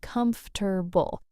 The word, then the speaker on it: comfortable: But in practice, we say comf-ter-ble.